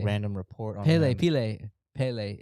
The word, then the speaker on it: Pelé: So I also didn't know I was saying Pele's name wrong my whole life.